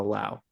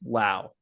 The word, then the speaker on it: Lowe: But And then anyway, so then I think Brandon's last name is pronounced Lau, and the yes. other two are Low. even though they're spelled the same.